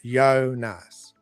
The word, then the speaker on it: Jonas: The Finnish name Jonas is pronounced Jonas. Awesome. Okay. Jonas. We have it in Lithuanian. We call it Jonas. That's why I thought it might be the Y sound, not J.